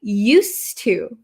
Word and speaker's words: used to: I used my phone however here the pronunciation changes a little bit okay used to used to so this D kind of disappears because it's followed by a t used to and it's